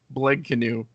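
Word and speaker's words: Blegknu: canoe that out okay no it's b l e g k n u BL canoe I wrote I wrote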